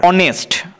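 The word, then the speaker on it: honest: অনেস্ট, আমরা অনেস্ট উচ্চারণ করার সময় অনেস্ট বলছি, অ হচ্ছে স্বরবর্ণ, তো স্বরবর্ণের ন্যায় উচ্চারণ হলে এইচ কনসোনেন্ট হলেও তার আগে অ্যান বসবে।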